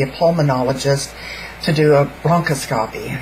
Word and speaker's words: bronchoscopy: pulmonologist to do a bronchoscopy it spelled like a broncoscopy but it's broncoscopy that's how it said um so I went